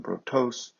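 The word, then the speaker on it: βροτός: twicey here is from brotos not a protos um when you have the accent as an oxy tone so the accents on the last syllable that means a person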